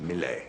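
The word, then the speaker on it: Millais: picture the Woodman's Daughter by mle leis is pronounced mle one of the preite Brotherhood so unlike some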